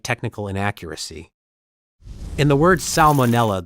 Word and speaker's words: salmonella: In the word salmonella, the first letter L is pronounced despite many English speakers tending to soften or skip it in casual speech.